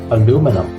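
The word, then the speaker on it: aluminium: challenging in American English it's aluminum the stress is on the second syllable on the sound of new a new manam whereas in British English the sound is totally different the stress is on the third syllable on me together it's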